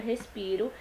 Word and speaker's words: respiro: A sílaba pi da palavra respiro foi pronunciada com mais intensidade. Essa intensidade foi representada graficamente escrevendo-se 3 vezes a letra I. Vejam aqui no terceiro quadrinho da tirinha. Respiro. A gente pode perceber que a sílaba tônica é o pi e por esse motivo